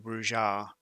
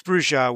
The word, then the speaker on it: Brujah: Neither of them is incorrect pronunciation as far as I'm concerned, because Brujah was the official pronunciation to begin with, and then it was changed later on. But as far as I'm concerned, either is okay.